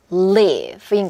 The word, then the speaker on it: live: 그래서 이가 아니라 이. 그래서 live인 거고.